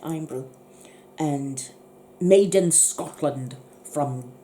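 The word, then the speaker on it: Irn-Bru: It's IRNBRU, iron brew. That's how you say it, iron brew.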